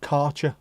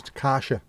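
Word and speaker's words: Kärcher: It's not Karcher, by the way. It says Deutsch. It says Karsha.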